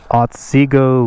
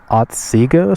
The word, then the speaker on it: Otsego: Again, this is Otsego Lake, I think is how you pronounce that. Otsego.